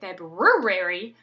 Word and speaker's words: February: for for spelling so some of the words we actually say incorrectly per the spelling especially like the word February nobody says that R that's in the middle so when we practice it in spelling we accentuate the R so we say febrary and then they start